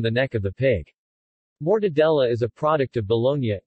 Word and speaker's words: mortadella: mortadella Italian pronunciation more de dia is a large Italian